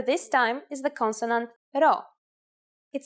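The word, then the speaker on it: Rho: have to remember to pronounce this letter as an R here's the uppercase row it is handwritten like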